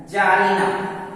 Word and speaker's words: czarina: जैसे CZARINA, इसमें Z के पहले C है तो इसका प्रोनाउंसिएशन है जारिना, C साइलेंट है।